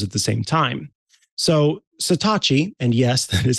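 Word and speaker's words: Satechi: all of those at the same time so satachi and yes that is how it's pronounced um finally answered my my Call to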